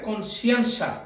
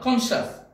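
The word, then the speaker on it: conscientious: কণ্ঠ আমি আগে বলেছি এই উচ্চারণ হবে কনসিয়েন্সিয়াস নট কনসিয়াস তোমরা দেখবা এই ভিডিওতে লেখা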